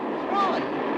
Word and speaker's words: Roy: Roy. I'm sorry, I can't hear. It rhymes with joy.